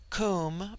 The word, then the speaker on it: Kum: Kum pronounced like the Welsh denotes something of hollowess.